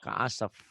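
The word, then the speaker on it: كعصف: Kalau dihentikan bukan begitu bacanya. Faja'alahum ka'asaf.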